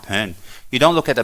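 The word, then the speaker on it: Bon: parents at this time it's spelled b-o-n if it's pronounced pen you don't look at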